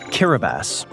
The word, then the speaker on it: Kiribati: Kiribati. And yes, that is how it's pronounced.